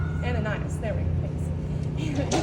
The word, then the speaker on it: Ananias: And how do you pronounce his name? Ananias.